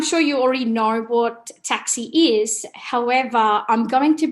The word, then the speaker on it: TCSI: I'm sure you already know what taxi is. However, I'm going to briefly introduce the topic and then go into the transition details. So TCSI stands for Tertiary Collection of Student Information, pronounced as taxi.